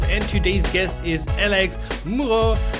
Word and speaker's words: Moureaux: I'm Simon Grimm, creator of Galaxies.dev, and today's guest is Alex Moureaux, who has a lot of letters in his French name, but you only need to pronounce the O.